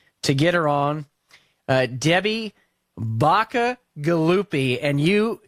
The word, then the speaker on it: Bacigalupi: get her on Debbie Baca gallupi and you you can see that that is pronounced exactly the way it's spelled she's an ambassador at